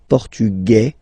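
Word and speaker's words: portugais: the feminine form okay masculine portugu you don't pronounce the s feminine formug you pronounce this z sound Okay.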